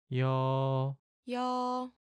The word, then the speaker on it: 여: 여, This sound has a lot in common with the last character's sound, doesn't it? The only difference is the Y sound in Ya.